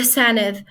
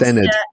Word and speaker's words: Senedd: The Senedd. So that's Senedd. SENEDD. Interesting. Sounds a bit like Senate. Yes, but it's pronounced with the like the THE.